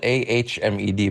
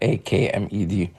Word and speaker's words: Ahmed: And my name is spelled Ahmed, by the way, not Akmed. There's no K sound in my name, but the H is like a hat.